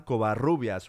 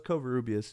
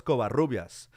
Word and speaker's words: Covarrubias: And so, like, it's really cool when someone, like, for example, says Juan Covarrubias, rolls the R and everything.